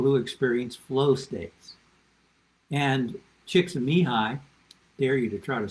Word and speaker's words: Csikszentmihalyi: In fact, Csikszentmihalyi, I'm not flaunting the fact that I can pronounce his name, by the way.